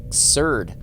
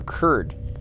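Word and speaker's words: Cerd: Okay, from Major Neville Curd, or Curd, however you want to pronounce that, C-E-R-D, to Corporal Sanaki, or Sanakai.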